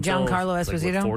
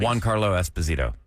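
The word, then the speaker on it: Giancarlo Esposito: the energy and he was never famous until John Carlos Espazito. Juan Carlo Espazito. Oh, I don't know. That's how you pronounce it.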